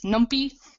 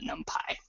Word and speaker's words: NumPy: I've also heard this pronounced as numpy but for consistency with the name of the language Python I pronounce it numpy.